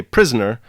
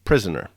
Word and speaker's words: prisoner: Booth went with this particular emendation because in Shakespeare's time, the disyllabic pronunciation of the word prisoner was more common. So they would say prisoner rather than prisoner.